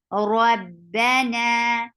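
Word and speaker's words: رَبَّنَا: Rabba for Fatha, open your jaws. Na 2 counts long. Rabbana.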